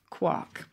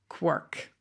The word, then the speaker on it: quark: on uh audio and get the pronunciation so here you go quark there you go and in the u.s quirk there we go i